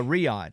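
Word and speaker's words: Riyadh: Uh, Riad is how you say it.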